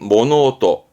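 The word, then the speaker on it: 物音: 발음은 모노오또, 모노오또.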